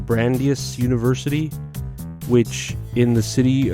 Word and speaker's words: Brandeis: So I'm looking at this list from, I guess it's pronounced Brandeis University, which in the city of Waltham and the state of Massachusetts, right?